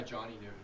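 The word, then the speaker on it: Jer'Zhan Newton: as well J yeah how do you say his name j by Johnny Newton Johnny Newton sorry like Johnny Newton the Falcons AV G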